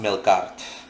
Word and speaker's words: Melqart: mistaken uh called melkart that's pronounced I'm sorry that's spelled m e l q a r t I repeat m e l q a r t um pronounced milart now um let me